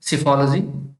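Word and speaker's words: psephology: हैं उसे बोलते हैं सिफोलॉजी। प्रोनाउंसिएशन थोड़ा अलग है, पी इसमें साइलेंट होगा।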